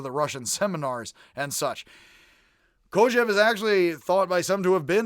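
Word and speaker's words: Kojève: It's not Kojivi. It gives me the heebie-kojivis. Kojev, I believe is how it is pronounced, was a Russian-born philosopher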